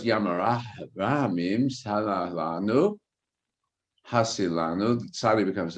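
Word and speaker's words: ים הרחמים: But in their pronunciation, there's no het. And so it's Yam HaRachamim, Salah Lanu, Hasilanu.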